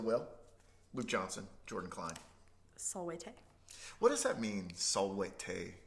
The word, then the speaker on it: Salvete: Salvete.